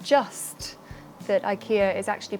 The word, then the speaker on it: IKEA: actually learned quite a lot not just that Ikea is actually pronounced Ikea but so much more if you want a